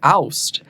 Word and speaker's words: Aust: And I say Austin. It's like Austin, Texas. Uh, but the German pronunciation is actually oust.